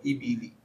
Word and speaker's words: الإبل: إلى الإبل كيف خلقت Jangan ibili. Ibili. Baknya itu bukan sukun tapi kasroh. Ibili.